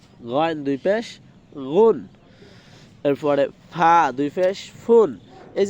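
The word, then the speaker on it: ف: সঠিক উচ্চারণটা হলো সামনের দুই দাঁত এবং নিচের ঠোঁটের পেট মিলিয়ে তারপর হয় ফা ফা।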